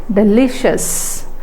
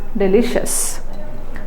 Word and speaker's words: delicious: it okay next I iOS is pronounced as us delicious not sheas delicious Courageous Courageous next obnoxious